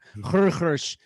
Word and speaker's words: Xerxes: Esther and Achashverosh, or Xerxes, as he's known from the movie 300, or Xerxes, as it's probably more correctly pronounced.